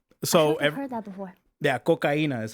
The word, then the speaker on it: coca: cocena cocena yeah so heard that before yeah coca is how you say it in Spanish so